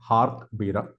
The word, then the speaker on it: Jarque Bera: In today's video, I'll be talking about what is called as the Jarque Bera test. Some people also pronounce this as Jarque Bera test.